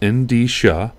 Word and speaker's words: Endicia: software so uh you know this is uh in d sha it's a e n d i it pronounced in d sha is a division of uh newell rubbermaid which